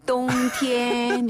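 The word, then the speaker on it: 冬天: 똥티엔. 이렇게 발음하시면 됩니다.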